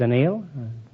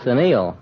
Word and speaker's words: anneal: is shaped oh we anneal it I beg you fine it's a nail I thought it was a television too no it's Anil a-n-n-e-a-l you don't have to